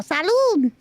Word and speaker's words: salud: you say cheers in um in Spanish uh Salud Sal Salud Salud yeah salude okay salude it's not compai guys salude oh